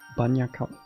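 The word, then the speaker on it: bagna càuda: Go make banya kauda. What is that? Banya kauda. What is that? Ooh. I like how I did actually pronounce it, at least the first word I pronounce in an Italian way.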